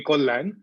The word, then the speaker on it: Kalyan: And joining us is Joyadrita, which is the Bengali way of pronouncing her name, Joyadrita, which would be the equivalent of if you're calling me Kollan. But now it's become more Kalyan, and similarly, I think everyone knows Joyadrita as Joy.